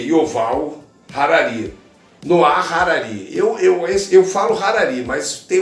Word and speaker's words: Harari: Noah Harari. Eu falo Harari, mas tem um H. Antes a gente falar Honda, eu falo Harari, mas tem pessoas que pronunciam Harari.